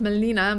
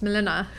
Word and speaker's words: Mileena: have said it wrong it's not melina but it's milena for me now it's